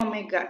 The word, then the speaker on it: omega: nah kita Tuliskan ini lambangnya Omega mirip wae ya tapi ini dibacanya Omega itu lama untuk kecepatan